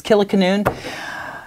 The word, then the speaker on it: Kilikanoon: Probably don't even know how to pronounce it. It's Killiecanoon.